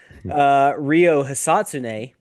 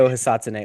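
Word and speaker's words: Ryo Hisatsune: Rio Hisatsune. Listen, TA. Hey, that was really good there, by the Yeah. way. You've been TA. working on that? Thank That was you. Beautiful pronunciation. Rio Hisatsune.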